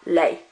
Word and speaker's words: les: We don't pronounce that S on the end. Le, la, les.